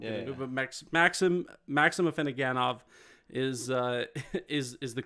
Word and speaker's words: Afinogenov: You did the French pronunciation for obvious reasons. We won't get into it, but Maxim Afinogenov is the correct response, and we'll go to the next one.